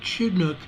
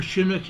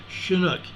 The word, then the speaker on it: Chinook: they have this as near chidnuk or Chinook excuse me I know how to pronounce this word Chinook c-h-i-n-o-o-k Chinook Washington this is a 1.2